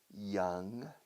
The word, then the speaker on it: young: Young, yellow yedra, young. Pronuncia young bien. Young. Como si empezara por I latina. Young. Young. No Y. Young.